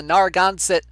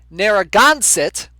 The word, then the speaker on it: Narragansett: langs taking on the nargonzit wait no nope nope that's not how you pronounce it it's pronounced narragansett quahogs taking on the